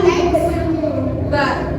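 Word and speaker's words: x̄: kalau dalam matematika ee seperti x ada topik di atas itu bacanya x bar.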